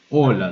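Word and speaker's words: hola: Оля, да? Да? Оно не читается как хола, как на английском, а оля. Просто Ola. Пишется, но не читается. Оля.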